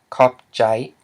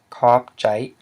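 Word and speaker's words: ຂອບໃຈ: It's a diphthong, I, which equals a low tone, so it's pronounced as, the whole word is pronounced as kopjai, kopjai, which means thank you.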